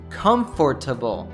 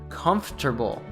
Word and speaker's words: comfortable: would you pronounce this you probably said comfortable while there is nothing wrong with saying it this way a native would probably reduce this to comfortable again removing one of the syllables this happens all the